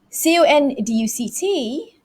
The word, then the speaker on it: conduct: look at what happens when this word is a verb is an action verb action word c-o-n-d-u-c-t but the stress falls on the second syllable so it would be